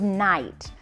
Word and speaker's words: knight: So here, the N's gonna tell the K to what? Hush, right? So parents, if you're going and you have a silent letter, see if this will help to signal them that it's hush, right? K doesn't say anything.